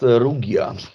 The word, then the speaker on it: Rugia: rugia or luia actually it should be pronounced rugia okay yeah because it is